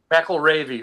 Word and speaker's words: McElravy: McElravy. It rhymes with Navy. Oh, okay. McElravy.